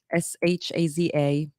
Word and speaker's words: Shaza: How do you pronounce that? Shaza.